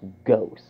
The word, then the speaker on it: Gose: Now, as I look at my notes right now, it's actually pronounced Gose.